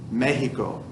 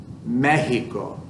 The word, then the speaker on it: Mexico: Florida, Mexico, that X is actually like an H sound.